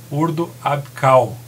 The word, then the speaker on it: Ordo Ab Chao: CH se lê como, como se fosse o C, né? Então, por exemplo, choros é coros, chau é cal, né? Então, a pronúncia correta é Ordo Abkal, né?